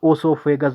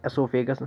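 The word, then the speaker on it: esophagus: कुछ लोग इसे ओसोफेगस भी पढ़ते हैं, लेकिन एसोफेगस बेस्ट है प्रोनाउंसिएशन के हिसाब से, क्योंकि प्रोनाउंसिएशन भी बहुत ज़्यादा इंपॉर्टेंट है।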